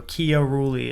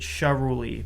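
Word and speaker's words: Chiarello: So, my surname is pronounced technically it's pronounced. So, Kiori is how you're supposed to pronounce that. Uh, a lot of my family pronounces it shuli, but I talked to a bunch of Italian people um throughout my life and they all told me that I was pronouncing my last name wrong.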